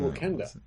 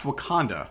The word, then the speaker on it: Wakanda: It's pronounced Wakanda, I believe, not Wakanda. I can say whatever I want. You can call it whatever you want. Okay, but I believe the rest of the world pronounces it Wakanda.